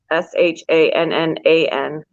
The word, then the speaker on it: Shannan: Her name is spelled with an A instead of an O, like Shannon, Shannan. It's like banana.